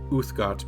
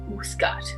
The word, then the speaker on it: Uthgardt: Clearly you have not met the Uthgard before. Uthgard. Do any of us know that? Spell that.